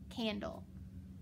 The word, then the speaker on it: candle: Now when I say dull, do you hear the E? No, remember the E is always silent in those final syllables, okay? So dull. Now I look at my first word. I've got an A in front of an N. The A has to be short, that's right. So candle.